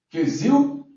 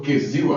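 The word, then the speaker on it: כסיל: A primeira, a pronúncia é totalmente aportuguesada, perfeito? Quesil, que significa insolente e tolo, e evil, que significa insensato e, obviamente, tolo também.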